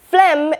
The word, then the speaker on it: phlegm: Phlegm is P-H-L-E-G-M, so that D sound is silent. That P-H is F, so it's phlegm.